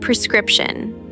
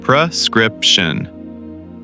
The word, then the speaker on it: prescription: Let us start with the word prescription. Prescription. The stress is on the second part.